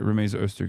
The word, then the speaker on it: Rumeysa Öztürk: administration with Mahmoud Khalil, with Mohsen Mahdawi, with Rumeysa Öztürk, right? Like, they're... Wait, did I say her name? I keep saying her name wrong. Okay, no, I did say it right. Rumeysa Öztürk is the person.